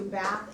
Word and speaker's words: Bath: In fact, we're going to Bath, England, which they pronounce Bath.